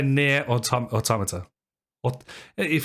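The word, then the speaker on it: NieR: automata you say yeah i've never heard anybody call it naya yeah i always pronounce it nair oh interesting i mean it's even mean i don't see any reason why i can't i've always called it i always i always i also always hear it pronounced automata or thomas it's automata yeah i say near or tom automata what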